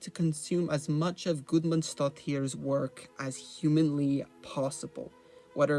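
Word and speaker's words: Guðmundsdóttir: Björk, aside from me finally learning how to pronounce her last name. Gudmundsdóttir.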